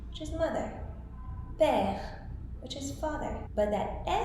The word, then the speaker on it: père: Now, if you take E and you put the accent the other way, then it is pronounced E. For example, mère, which is mother. Père, which is father.